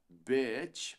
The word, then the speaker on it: bitch: próxima esse palavrão aqui bitch é mais PR bitch do que PR Beach weather bitch muitos se